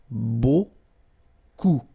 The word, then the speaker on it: beaucoup: And then you get this combination of vowels, E, A, U, and you get the sound O. So technically it's beaucoup, okay?